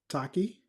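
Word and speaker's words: Tachi: Is it Taki or Tashi? You you'll have to pronounce it. Tashi in the Yeah, tell us in the the chat how to pronounce it so we can put respect on your name. Yes, I believe it's Tashi. T A C H I.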